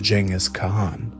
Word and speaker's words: Genghis Khan: It was at this moment that he was bestowed with the great title that would echo through history, Genghis Khan, pronounced Genghis Khan.